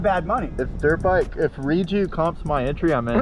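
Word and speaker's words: Rieju: Redo. Did you say redo or Redo. I believe it's pronounced reju. This is Spanish.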